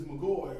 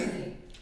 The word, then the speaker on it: McGahee: McGoy, or McGahee, McGahee, I know everybody pronounces it different. it's McGahee.